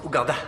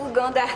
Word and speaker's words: Ouganda: Ça se prononce Ouganda. Ah, Ouganda, d'accord.